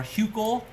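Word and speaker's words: Hückel: So this is called a Huckel's rule, or Huckel. I think someone told me that the U with the dot over it is pronounced Hu with the U sound, oo sound. So Huckel.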